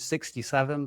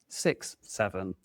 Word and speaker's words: 67: To old people like us, we'd pronounce it 67, but no, this is 67.